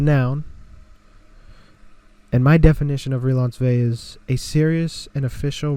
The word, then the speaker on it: Relansové: It's a noun, and my definition of Relansové is a serious and official romantic / sexual relationship between two people. And then I said, spoiler, the O is silent.